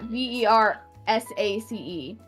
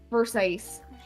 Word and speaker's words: Versace: don't know like yeah v e r s a c e verise but it's Versace like what they they